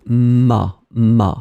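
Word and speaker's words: m'a: the apostrophe you get ma phonetically it's exactly the same sound Ma and Ma so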